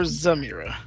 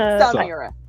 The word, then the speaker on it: Samira: it Samira or Zamira? So, Samira. Oh, I heard a Z, so I say it right.